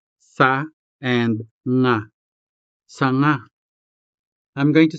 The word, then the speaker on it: nga: Now let's scratch out the first syllable sa and say only the second syllable nga. In a way, we say sa in our head and saying nga out loud.